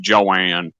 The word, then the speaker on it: Joan: whose name was, well, it's spelled Joan, but she pronounced it Joanne.